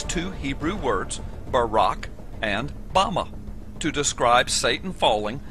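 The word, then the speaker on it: במה: the Strong's Hebrew Dictionary, and it is pronounced Bama.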